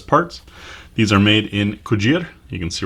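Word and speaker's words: Cugir: have any u.s parts these are made in kujir you can see right there those of you that missed the last video we went to gojira i asked the locals that's how it's pronounced it's not cougar uh as well we would pronounce it but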